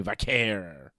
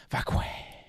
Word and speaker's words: Vaquer: Stephanie Vaquer. You know, if you want to pronounce it that way. I like Nikki Bella's pronunciation. Vaquer.